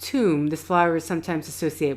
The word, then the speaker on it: Thum: Okay, so that's it. Pronounced tomb.